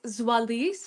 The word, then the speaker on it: Zoalize: So, it's Zoalis for anyone who wants the corre correct pronunciation, but I'm happy to go with.